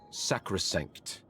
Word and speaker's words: sacrosanct: how do you pronounce it? Sacrosanct.